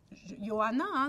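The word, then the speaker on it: Ἰωάννα: qui est jeanne j'aime en grec son nom se prononce yoanna c'est johanna ioana elle fait deux petites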